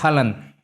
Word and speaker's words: Haaland: Erling Braut Haaland. ¿Ah, sí? Con mi pronunciación de noruego.